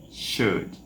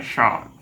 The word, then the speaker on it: should: Should. Não é shout.